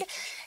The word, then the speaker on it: Reiki: Reiki.